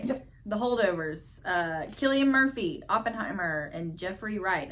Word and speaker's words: Cillian: The Holdovers, Cillian Murphy, Oppenheimer, and Jeffrey Wright, American Fiction. Now, let me ask you something. Did I say that wrong? What? It's Cillian Murphy, right?